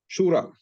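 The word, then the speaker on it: شورى: ये बोलने की, ये बताने की जो है जरूरत इस वास्ते है कि एक लफ्ज है शूरा, ये भी जो है शीन, वाव और रे से बनता है।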